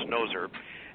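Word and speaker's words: Gnozer: It's spelled G-N-O-Z-E-R, but I think it's pronounced Noser.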